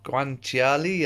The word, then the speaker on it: guanciale: cured as bacon or guanciale I think is as close as I can pronounce it to the Italian way I've got little bit